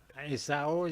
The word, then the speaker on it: Azero: Acero, that's what you say. Acero. Yeah, 'cause it's Mexican.